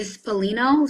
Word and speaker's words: Spallino: my name is spalin and then spino like spaghetti Italian I love that and